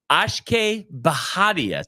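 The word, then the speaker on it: Akshay Bhatia: pronounce pronounce pronounce um Ash baharia Tony how about that is that correct pronunciation first winner yeah it is it is the correct pronunciation uh first-time winner on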